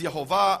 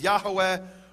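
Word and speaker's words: יהוה: In fact, it says there in the Hebrew, Yud He Vav He, which I pronounce as Yehovah, others pronounce as Yahweh or Yahweh, and I won't go now into the reasons for those differences.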